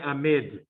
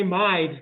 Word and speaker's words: amide: logic the mean becomes careful how you say it it should say amid if you say a mind then then you've got carbonyl on your brain they might have a